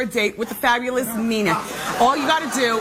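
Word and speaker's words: Neenah: Nina. Okay. They spelled it phonetically.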